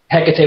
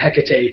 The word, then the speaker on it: Hecate: in the show i i don't like it when i hear hecate pronounce akate because it means totally two different things no let's talk about